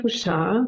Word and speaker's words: Fouchard: Fouchard, yes. So I usually try to pronounce the pretty German, because that's the German part, and the Fouchard more French because it's the Haitian name.